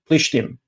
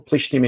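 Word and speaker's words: פלשתים: They don't have a pe in their language. They say Palestine, which is a mispronunciation of that word, of Plishtim, Philistines, or Plishtim in Hebrew, which means invaders.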